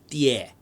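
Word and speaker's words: 蝶: It actually should be pronounced die, because it's Mandarin for butterfly.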